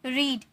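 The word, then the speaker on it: read: exercise walk watched eaten रीड इसे रीड नहीं रेड में प्रोनाउंस करेंगे ओके यह v3 है इसीलिए फर्स्ट फॉर्म में रहता है तो रीड second form रेड third form भी रेड प्लेड संग डांसड अब्यूड़ोस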